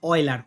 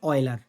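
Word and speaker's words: Euler: কিন্তু সবথেকে বেশি জনপ্রিয় করে তোলেন হচ্ছে অলার। অলার নামক একজন বিজ্ঞানী। ঠিক আছে? আমি নামটা এখানে লিখে দিচ্ছি। উচ্চারণটা হচ্ছে অয়েলার।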